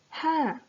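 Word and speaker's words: ห้า: The number 5 in Thai is ha. We pronounce it as ha.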